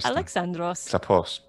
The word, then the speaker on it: Alexandros: alexandra what is it about it even cooler alexandros awesome all right and is helen just helen